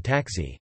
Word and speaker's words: także: For example, the K in taxi, also, is pronounced like a G.